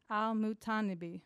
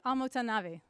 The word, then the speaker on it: al-Mutanabbi: the 10th century poet al-mutanabbi I said it wrong didn't I um it's on nabi al-mutanabi better his research this isn't